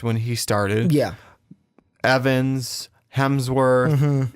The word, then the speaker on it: Hemsworth: Or Hemsworth. There's no L. I said it right. You just said it right this time. Just like Hemsworth, you can hit the